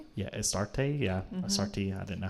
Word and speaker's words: Astarte: Yeah, Astarte, yeah. Astarte, I didn't know how to pronounce it, but um or Ishtar or Okay.